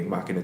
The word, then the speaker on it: Machina: It's a bit of a like Latin kind of name, but yeah, Machina 2. It's pronounced that way, Machina 2.